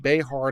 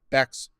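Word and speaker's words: Bexar: It's pronounced Behar, not Bex or Bear.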